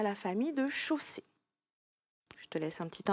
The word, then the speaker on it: chausser: la même famille que chausser. C'est un verbe sous sa forme infinitive. Je te l'écris. Chausser. Il se termine par ER puisque c'est la forme infinitive. Attention, ici, le phonème O s'écrit AU.